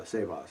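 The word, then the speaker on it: σέβας: Well, that's sebas too. Or sebas, rather. Yeah, sebas, accent on the first syllable.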